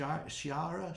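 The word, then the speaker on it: Sharia: or Shara law sh Shara Shar law Shar is how you say it Shay law in Iran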